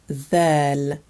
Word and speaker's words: ذال: Letter ذال, ذال. This is the same sound you find in a word like this or that.